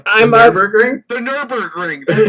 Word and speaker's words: Nürburgring: the Nürburgring. That's how you Yes.